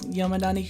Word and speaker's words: Yomedani: As you know, my name is Yomedani. And the kanji for the last name are the kanji for rodent, so nezumi, and valley, but it's pronounced yome because of a particular thing in folklore that you might be